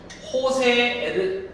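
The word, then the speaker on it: José: 예를 들어서 호세 엔리케 얘는 J가 아니라 호세예요. H 발음이에요.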